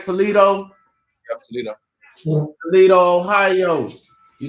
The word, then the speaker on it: Toledo: I said it right, Toledo, Yep.